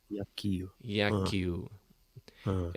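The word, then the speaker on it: 野球: Qual que é Então, a pronúncia em japonês? Como é que é? Repete aí. Yakyu, Yaki, Yakyu, é, Yakio. Ah, Yakyu.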